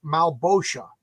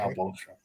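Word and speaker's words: Malebolgia: So Great Gold Worm is giving me a pronunciation guide. It's Malbosha. Okay. Malbosha.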